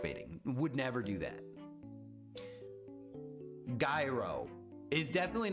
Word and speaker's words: gyro: Hero, my favorite.